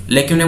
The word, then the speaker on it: lacunae: पहला वर्ड है लेक्यूनाए, लेक्यूनाए बोलते हैं इसको, लेक्यूना.